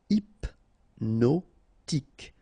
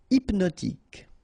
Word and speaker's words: hypnotique: Remember, at the end, Q-E, K, tic. So, H is not pronounced. Hypnotique. Hypnotique.